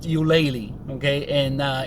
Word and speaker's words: Ulele: all kinds of different ways but it is pronounced ulele okay and uh it's very nice restaurant i